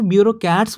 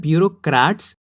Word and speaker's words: bureaucrats: बहुत बार लोग इसे ब्यूरोक्रेट्स बोल देते हैं या फिर इस सुनने में ब्यूरोक्रेट्स लगता है, तो वो गलत है। सही प्रोनाउंसिएशन है ब्यूरोक्रेट्स, और सही स्पेलिंग है BUREAUCRATS।